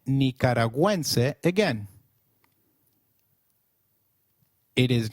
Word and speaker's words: nicaragüense: have noticed is the symbol on U in Nicaragüense. Gu, when followed by another vowel like in gue, is pronounced like gue in Gwen. So, let's try saying Nicaragüense again. It is Nicaragüense.